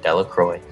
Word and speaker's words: Delacroix: Bobby and Harry Jones and Dickie Delacroix, the villagers pronounced his name, Delacroix, eventually made a great